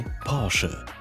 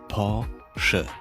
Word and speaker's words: Porsche: इतना कि उन्होंने एक ऑफिशियल वीडियो बनाया सही प्रोनाउंसिएशन बताने के लिए। Porsche. Porsche.